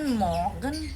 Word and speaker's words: Morgen: Jadi kalau cara bacanya ini tetap guten Morgen. Jadi morgen gitu. Guten Morgen. R-nya tuh kayak kebaca tapi samar-samar, kayak ikhfa.